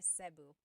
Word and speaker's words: Cebu: So, technically in the Tagalog alphabet, the letter E can be pronounced E or E like the letter I. So, I say Cu. Cu. And I know some people say su, but usually it's either Cu or Sebu.